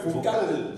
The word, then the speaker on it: Vokal: Chez moi, bon, pour différencier cela, j'ai juste enlevé le C qui fait le cal et j'ai rajouté le K. D'accord, donc ça fait V-O-K-A-L.